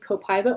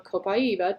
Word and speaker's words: copaiba: Taking essential oils such as cinnamon bark, cassia, marjoram, and copaiba or copaiba, depending on your favorite pronunciation, internally may have the ability to boost cardiovascular functionality.